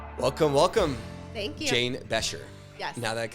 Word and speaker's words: Becher: Jane Becher. Yes. Now that I can say your last name properly. I know. Most people don't. Our kids rarely know their last name. Like Oh, really? Becher.